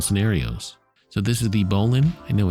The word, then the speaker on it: bowline: So this is the bowline. I know it's spelled like bowline, but apparently that is the